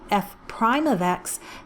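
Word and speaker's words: f′: These two are commonly called Leibniz notation, or f, it looks like an apostrophe but is pronounced prime, f prime of x.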